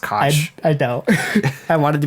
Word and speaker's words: Koch: A deeply flawed ex-lawyer named Don Cock. I'm pretty sure it's pronounced Koch.